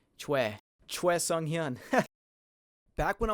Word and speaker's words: Choi: But Choi. Sounds like Choi. The oi is pronounced like the we in we. Choi.